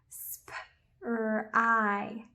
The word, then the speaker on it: spry: Correct, it makes a long I sound. So this word says spry, spry.